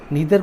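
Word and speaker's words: neither: ईदर ऑफ, नीदर ऑफ, ईदर को कोई आइदर भी पढ़ता है, नीदर को नाइदर भी पढ़ता है, ये दो तरह से प्रोनाउंसिएशन होता है, तो इसमें कंफ्यूज होने की ज़रूरत नहीं है, ठीक है।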